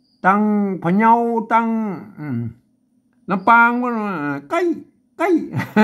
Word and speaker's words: ใกล้: มา ตัว ละ ต้อง อ่าน ตาม หลัก ภาษา ล้านนา นะ อ่าน ว่า ใกล้ เสี่ยง ธง พิเศษ แล้ว ก็ มา วัด